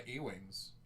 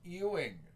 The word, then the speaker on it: Ewing: to check out my Ewings and then I was corrected and told its pronounced Ying I was no longer